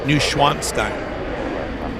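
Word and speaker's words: Neuschwanstein: there tell me the name of it again new schwanstein NW s c h w a n s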